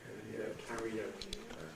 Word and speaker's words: karaoke: Now, this perhaps would most normally suggest schwa, karaoke, but schwa before another vowel would give you an intrusive R, karaoke. And that really is a bit awkward. So we change it not to schwa but to I.